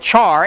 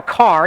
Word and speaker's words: char: We call it either a char, like the first syllable in character, or some people call it a car, even though it's not called a character, because they just look at it and they're like, oh, if it was one syllable, it would just be car.